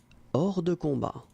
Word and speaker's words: hors de combat: Please be easy to pronounce. Don't make it cringe. Just don't make it cringe. Hors de combat.